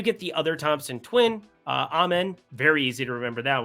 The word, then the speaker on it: Amen: Now, they do get the other Thompson twin, Amen. Very easy to remember that one because, you know, or I guess some people would probably say Amen. But it's Amen.